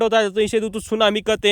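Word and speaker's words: tsunami: क्या नाम है दोस्तों क्योंकि दोस्तों जब भी इससे पहले अगर टी आता है तो दोस्तों हमेशा साइलेंट हो जाता है ये आप दोस्तो इंग्लिश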